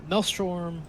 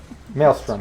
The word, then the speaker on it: Maelstrom: Uh, Melstrom. Sorry. Melstrom re words. Melstrom. Oh my god. How do you say that word? Maelstrom.